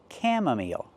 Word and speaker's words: chamomile: Pronunciation, chamomile.